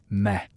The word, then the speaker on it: me: A key concept in Mesopotamian cosmology was the idea of me, pronounced meh.